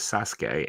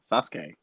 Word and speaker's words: Sasuke: chat the chat is informing us that the pronunciation of that toy is Sasuke and he is from Naruto okay that's okay okay Sasuke oh my God Sasuke and now these are